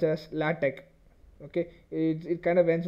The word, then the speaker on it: LaTeX: lat though it's looks like latex it's not latex you have to pronounce it as latte okay it kind of ends with a k